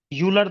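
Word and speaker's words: Euler: सबसे पहली प्रॉपर्टी है और जो मोस्ट इंपोर्टेंट प्रॉपर्टी है जिसका नाम है यूलर थ्योरम। कुछ लोग इसको आइलर थ्योरम्स भी बोलते हैं। वह प्रोनाउंसिएशन हो सकती है।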